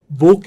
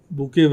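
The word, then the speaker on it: Bokeh: of visualizations overlapping Ridge plots and so on Boke is another such Library which is primarily or sorry this is pronounced as B Bou is another Library which is browser based although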